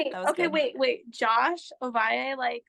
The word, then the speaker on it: Ovalle: So we just have all of our guests request Josh Ovalle. That's the thing we have. So wait. How do you pronounce their last name?